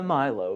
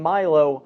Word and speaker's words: Melos: So I'm pronouncing Milo, Milo, instead of the more French pronunciation of Milo.